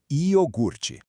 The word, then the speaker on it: iogurte: O que acontece aqui é que o som do R dá uma viajada dentro da palavra. Em vez de ficar quietinho lá no final, na sílaba ert, ele pula pro meio da palavra e se junta com o g.